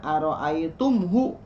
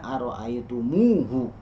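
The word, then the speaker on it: رأيتموه: objeknya maka tidak dibaca aroaitumhu tidak dibaca aroaitumhu tapi dibacanya aroaitumuhu seakan-akan Oh ditambahkan waau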